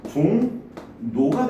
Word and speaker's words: 종로: 자, 종로 같은 경우에 종로 발음이 종노가 됩니다.